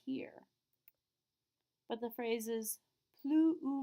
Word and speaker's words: plus: 2 S's we don't pronounce, which means the end of plus sounds exactly like that oo in the middle.